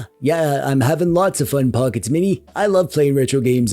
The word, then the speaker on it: Pocket S Mini: This is the Inal Pockets Mini. It's pronounced Pocket S Mini.